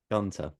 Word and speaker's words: Gunter: You do pronounce the T. Gunter. It seems like it'd be Gunter, but I Yeah. always say Gunther.